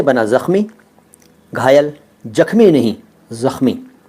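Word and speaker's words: ज़ख़्म: गहरा जख्म हो गया जख्म नहीं होता वो होता है जख्म कई लोग जख्म कहते हैं जख्म जख्म भी सही उच्चारण नहीं है शब्द है जख्म जा के नीचे उगता खा के नीचे उगता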